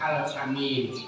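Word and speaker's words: al-amin: alaminnya orang yang dipercaya tapi a-nya pendek alamin seorang yang bisa dipercaya tapi kalau Amin itu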